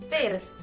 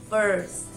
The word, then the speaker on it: first: bun burn lean learn the only difference is the r but this makes a